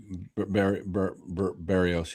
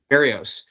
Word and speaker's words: Berríos: Is that how you pronounce it? Berríos, yeah. Berríos.